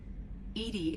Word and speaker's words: EDI: are you named edie edie is the phonetic pronunciation of edi that is an acronym for enhanced intelligence your location where are